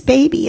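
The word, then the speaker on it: Bhebe: Her name is Baby. It's spelled B-H-E-B-E.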